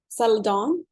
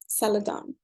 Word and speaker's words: Zeledón: Today we have a special guest, Zeledon. Am I pronouncing it correctly? Yes, Zeledon, yeah.